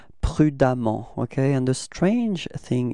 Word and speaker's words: prudemment: So you will get for the adverb, it's prudemment, okay? And the strange thing is that you will write E-M-M-E-N-T for the adverb, but then you pronounce as if there was a A, okay? It's prudemment, okay?